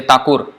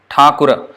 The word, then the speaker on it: Thakura: Thakur, Thakura. In Bengali or Hindi we say Thakur. In Sanskrit, Thakura, Ra. Ra, you see the A and the N. But in Bengali we may say Thakur.